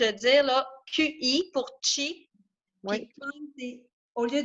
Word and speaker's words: Qi: Nous, on l'écrit comme, et en général, il s'écrit plus comme, je vais te le dire, là, QI pour chi, Oui, puis Kong, au lieu d'un K, c'est un G-O-N-G.